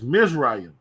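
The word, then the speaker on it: Mizraim: The proper way to say Egypt is Misraim Mazarium.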